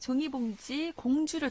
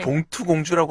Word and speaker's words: 종이봉지 공주: 관련 생각을 생각하는 그림책 종이봉지 공주를 통해서 네. 종이봉지 공주. 네. 그래서 어떤 그림책일지 이거 읽을 때 궁금하네요. 종이 네. 봉투 공주라고 하시는 분이 있는데 네. 그 발음에 주의하시고요. 네. 종이 봉지 공주고요.